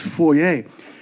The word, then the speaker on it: foyer: Did you know that foyer is actually a French word? It's supposed to be pronounced foyer and it is to uh